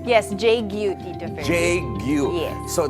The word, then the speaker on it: JGYU: Did I pronounce the company correctly? Yes, JGYU, Tito Ferdi.